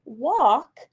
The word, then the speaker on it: walk: in the word lost a l and o also stand for the ah sound in walk the letter l is silent listen as i watch